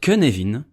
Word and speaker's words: Cynefin: Oui, il se prononce Cynefin parce qu'il a été inventé par Dave Snowden qui est gallois et que les Gallois ne prononcent rien comme tout le monde.